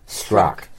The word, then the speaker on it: Strzok: You know, these two star-crossed lovers, Peter, how do you pronounce it? Strzok.